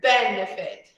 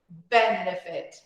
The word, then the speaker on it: benefit: Here, benefit, benefit, the first.